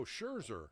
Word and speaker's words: Scherzer: Oh, Scherzer.